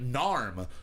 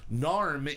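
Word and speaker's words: Naarm: saying it right um but i believe it is yet narm narm is the uh the indigenous name for the area that melbourne is in n-a-a-r-m and they build themselves as being from narm slash melbourne okay so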